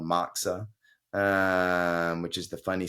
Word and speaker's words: moxa: you spell this word moxa yeah it sounds like the Jewish bread um I don't I don't think it's spelled the same way uh so I if I remember correctly Glenn it's m-o-x-a moxa oh m-o-x-x okay